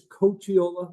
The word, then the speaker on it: Cocchiola: Cocchiola, EdAdvance: Last name is Coachiola, like a baseball coach, but even my kids have trouble pronouncing it so.